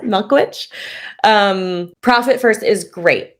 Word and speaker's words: Michalowicz: so profit first by Mike Milkovich sorry pronounce it milkwitch um profit first is